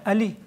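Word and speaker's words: علی: We just pronounce it with alef, then fathe, and then ly, Ali.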